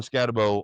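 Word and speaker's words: Skattebo: People say Scataboo. That's not how it's spelled. Bo. It's Scatabo.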